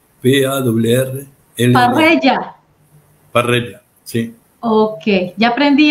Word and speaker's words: Parrella: ¿Cómo se pronuncia su apellido, apóstol? Es un apellido italiano, Parrella, P-A-R-L-L-A. Parrella.